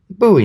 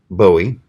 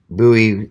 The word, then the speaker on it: Bowie: basics with your daddy forgot to teach you Buie notes yes I know a lot of people pronounce it bowie and you're not going to get into too